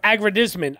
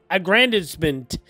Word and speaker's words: aggrandizement: because of agnew's constant self-aggrandizement agreed aggregate or aggregisment i think it is not really sure um what that word is to be honest aggrandizement is how it's pronounced self aggrandizement it's basically the act of making something larger